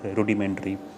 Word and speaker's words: rudimentary: These are the various synonyms for this particular word, rudimentary. Hindi would be Adharbhoot, the basic, the foundation, asal. Antonym is complicated. Pronunciation rudimentary. Rude, ROODI, rudimentary.